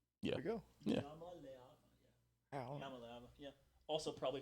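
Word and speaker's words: Iamaleava: You pronounced it like it was a capital L. Oh, it's Yamaleava. Yeah. There we go. Yeah. Yamaleava.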